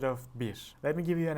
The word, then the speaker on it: bir: So bir in Turkish is one. And if you want to say bir when you're ordering something, we will use bi instead of bir.